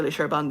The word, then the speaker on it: Șerban: it was called shy Sheran then that's how you say my name um I stuck it